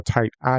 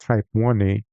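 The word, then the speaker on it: Type Ia: use like a supernova I used to called it a type I is actually properly pronounced type 1 a uh they're uh they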